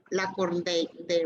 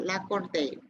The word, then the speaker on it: Lacordaire: la catedral francesa para escuchar la elocuencia de Lacordaire. Bueno, no lo puedo pronunciar, Lacordaire.